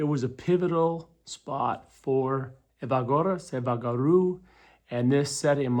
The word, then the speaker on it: Evagoras: Evagoras.